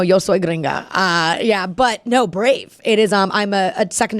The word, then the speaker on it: Brave: But no, Brave.